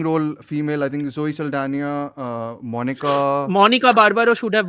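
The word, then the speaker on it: Saldaña: Until we mentioned the next category, which is best actor in a supporting role, was won by Zoe Saldana. How do we pronounce it?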